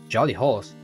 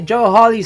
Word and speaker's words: Joe Hawley: They're just like Tally Hall or like Jolly Hall's uh Jolly Holes. I keep mispronouncing. I meant to say Joe Holly songs.